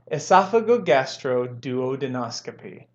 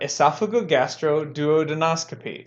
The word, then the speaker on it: esophagogastroduodenoscopy: Now let's add them both together and we have esophagogastroduodenoscopy. There we go. That's how you pronounce that word, esophagogastroduodenoscopy.